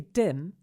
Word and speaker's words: dim: dusky or dark and it has a short a syllable as in fish and chips just try saying fish and chips and keep the vowel sound really short now say dim and make a similar short vowel sound and here's that tricky